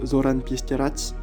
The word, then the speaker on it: Zoran Pesterac: Il y a aussi Zoran Pesterak, même si son nom se prononce Zoran Pesterac.